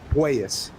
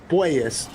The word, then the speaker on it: Puelles: of his name because I think it might be Puelles. Puelles, not Puelles. Yeah, so it is more of a poi than a poo. You're right. Claudio I would check on Puelles.